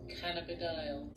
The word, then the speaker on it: cannabidiol: I did have to look up how to pronounce the actual scientific word for CBD, which is pretty hilarious. Cannabidiol.